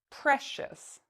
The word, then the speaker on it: precious: So we know we need to pronounce it like this, shus. Precious.